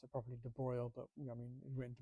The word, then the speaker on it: de Broglie: calculate and I should be a professional and pronounce it properly, de Broglie, but I mean, written de Broglie.